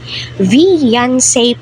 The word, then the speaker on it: Veancy: daw po ni Vice Ganda itong si vian vian po talaga ung pagkabigkas po niya doon sa It's Showtime So